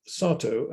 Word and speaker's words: Satow: Throughout this period, Satow, and I always pronounce him with a long A as in father, Satow was resident in the small town of Otte, St.